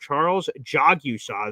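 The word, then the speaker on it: Charles Jagusah: It is Charles Jogusaw. He is a Notre Dame offensive lineman, a big boy, and he says, I hope we draft Charles Jogusaw, is how you pronounce it according to Charles.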